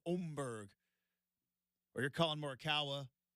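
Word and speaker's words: Åberg: And if you're Max Homa or Oberg, which we're all going to learn how to say his name, it looks like Amberg. It's not. It's Omberg.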